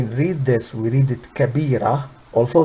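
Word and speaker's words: كبيرة: this we read it kabira also this is TA but we don't say kabirat we say kabira why we say we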